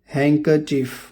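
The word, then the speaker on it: handkerchief: इसके अलावा कुछ और शब्दों में भी डी साइलेंट होता है। हैंकरचीफ रुमाल, सैंडविच, वेंसडे, सैंडविच नहीं बोलेंगे, वेडनेसडे नहीं बोलेंगे, वेंसडे।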